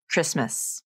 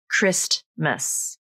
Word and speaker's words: Christmas: Sometimes it's followed 100% of the time, like the word Christmas. I've never heard anyone pronounce it like Christmas.